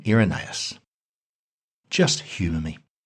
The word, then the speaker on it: Irenaeus: the second century now I've heard his name pronounced several different ways by rep devil Scholars arenais iron as if they can't agree I figure I can cut myself some slack here I'll call him irenaeus just humor me irenaeus